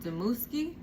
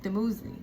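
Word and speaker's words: Dumuzi: And I came across the story of Ishnana and Demuski. Am I saying it right? Or am I? Oh gosh, and Demuzi. My bad, Demuzi, right?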